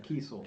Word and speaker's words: Kiesel: Is that how you spell it? Oh, it's Kiesel.